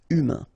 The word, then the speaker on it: humain: Humain, remember, H is not pronounced. A-I-N, un. Humain.